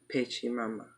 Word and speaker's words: Pachamama: Pachamama.